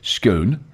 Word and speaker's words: SKOON: company and i'm gonna try and pronounce this in the dutch way schoon which we would say schoon with the way it's spelled skwn if you actually